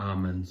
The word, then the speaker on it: almond: Americans say almonds. Oh yeah. They say almonds. Almonds. Ah. Americans actually pronounce it correctly. Ah, correct. Ah, okay. American correct it. Just in here, maybe a bit lazy. Yeah, we skip the L altogether.